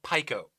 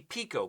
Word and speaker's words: Pico: pronunciation I don't know it makes sense because the I is pronounced e that's how you pronounce it so it would be Pico but is it in